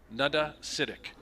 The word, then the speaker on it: Nada Citic: I'm going to go Nutta Citic. Think. It's not Canada. It's not nada. Canada without the CA. Nada Citic.